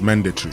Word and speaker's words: mandatory: So we say mandatory Mandatory, but the English man says mandatory. Mandatory. See the stress is on the first syllable.